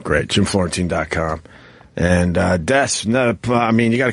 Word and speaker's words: Des: Do you pronounce it Des or Des? Des.